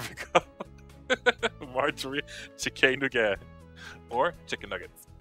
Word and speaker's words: Chickénuggètz: It's pronounced chicken nuggets. It's just that it's written Chickénuggètz. Oh, wait.